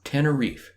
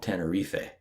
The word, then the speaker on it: Tenerife: autonomous community in spain just a note we're using the english pronunciation of the island in spanish it's called tenerife the island is about